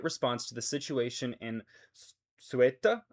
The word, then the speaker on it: Ceuta: The government of Spain is fully committed to providing an immediate response to the situation in Ceuta, I believe is how you say that.